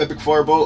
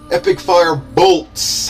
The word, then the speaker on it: EpicFireBolt: was a good game epic Fireball oh fire I can't I can't believe I keep saying your name like that anyway epic fire bolts I have to pronounce the b o l t bolt um and uh we